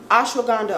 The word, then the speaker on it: ashwagandha: Ashwagandha, okay, I was saying it right.